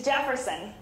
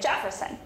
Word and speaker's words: Jefferson: But with the pronunciation in Portuguese, if it's spelled the way we spell it, it comes with a soft J, so Jefferson. So some people put in the D to make Jefferson.